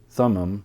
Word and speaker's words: Thummim: and Thummim urine room means lights to meme Thummim that's how we pronounce it means perfection so this this was